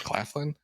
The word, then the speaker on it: Claflin: Sam Claflin, that's how you say his name, right? I guess. Yes, Claflin.